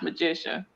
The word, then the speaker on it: Majicia: Majicia is pronounced Majicia.